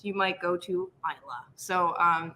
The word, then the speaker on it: Islay: packing to our secret island you might go to isla so um it is pronounced isla uh which we did mention briefly before i-s-l-a-y isla yeah and then uh it